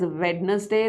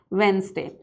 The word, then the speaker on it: Wednesday: If you are pronouncing this word as Wednesday, that would be wrong pronunciation, because the right pronunciation of this word is something like this, Wednesday.